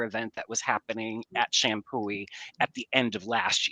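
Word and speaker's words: Champoeg: So it is properly pronounced shampooie. Shampooie. So think of the shampooing that you do on your head.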